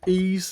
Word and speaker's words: Ys: Next one is Ease, even though it's spelled with a Y.